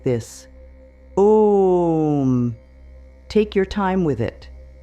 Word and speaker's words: Om: For Om, start with your mouth closed. Let the sound build in your chest before it comes out. It should feel like a gentle vibration rising up through your body.